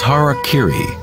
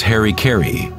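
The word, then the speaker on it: hara-kiri: one form of ritual suicide or seppuku was hara kiri was often mispronounced as harry kerry it means to impale one's horror thereby cutting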